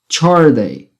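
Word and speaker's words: chordae: Aqui é um sonzinho de tch, chorday, chorday, chorday.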